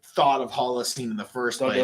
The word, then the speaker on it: Holocene: that I even like thought of Holocene in the first Don't do place it. was because of the Bon Iver song God, dude. Holocene.